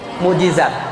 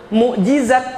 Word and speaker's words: Mukjizat: Mukjizat. Mukjizat berarti bukti. Oh, maaf. Mukjizat berarti bukti kesalahan. Mukjizat berarti mukjizat. Salah. Mukjizat berarti ingat baik-baik." Mukjizat selama diucapkan a ja za ain jim za selama diucapkan za.